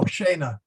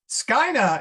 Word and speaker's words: scaena: okay, Yeah, the SC is a like an SH sound in ecclesiastical Latin.